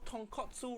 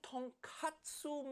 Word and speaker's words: tonkatsu: So tonkatsu ramen makes sense. It pop bone ramen. But katsu mean cutlet. So tonkatsu mean fried piece of pork.